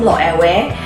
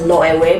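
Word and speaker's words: Loewe: and it is from lo away i always pronounce it as low away because that is my friends from spain told me they said that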